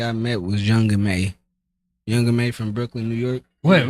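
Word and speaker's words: Young M.A: call her young Ma so it's not young ma no I mean well that's for I guess Bay Area people say young ma oh CU of a ma how she how she pronounced it or you know it's young may but that's one of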